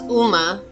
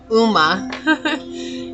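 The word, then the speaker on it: Ogma: says, "Uma, pronounced Uma, is the Celtic warrior god of literature, eloquent, eloquent, and speech.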